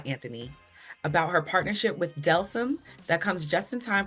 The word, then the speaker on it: Delsym: Delsym.